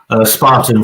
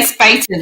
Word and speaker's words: Spaten: Spartan from October. Oh, Spartan. I'm trying to say Spaten.